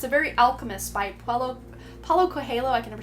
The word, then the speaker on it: Paulo Coelho: It's a very alchemist by Paulo Coelho.